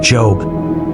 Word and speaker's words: Job: It's the story of a man named Job, pronounced Job, not like the word for work, and it's a story